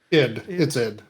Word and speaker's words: id: Or actually, more specifically, what are the thoughts on maybe someone like id or ID? I'm honestly not sure how to pronounce that. It's id. Id.